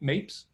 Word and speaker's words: Mapes: start with um richard is your last name pronounced mapes yes it is richard mates uh take